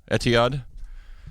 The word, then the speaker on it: Etihad: He's got his mixed bag of Boston Red Sox and how do you pronounce that again? Etihad.